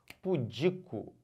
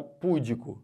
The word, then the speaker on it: pudico: muito pura ela é pudica e não pudeco se você fala pudico errou tudo perceberam é